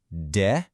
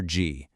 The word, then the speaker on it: de: In Brazil, when this word follows a vowel, it almost always gets this G sound like the letter G. So, you don't really say D, you say G.